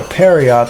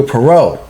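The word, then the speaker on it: Pierrot: It get its anime adaptation worked on by Studio Perry, the same studio that worked on Cosmo Police Justy in 1986. It is pronounced Studio Perau.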